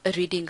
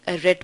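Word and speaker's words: read: इट्स नॉट रीड, इट्स रेड because it इज the third form of रीड। नाउ the spelling of ऑल the three forms of रीड is same, right, but the pronunciation is different. रीड, रेड, रेड।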